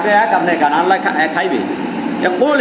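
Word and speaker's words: قُلْ: কুল হু আল্লাহু আহাদ, এই কফটা উচ্চারণ করতে হবে এই গলার মাঝখানে, কুল। সবাই বলেন কুল।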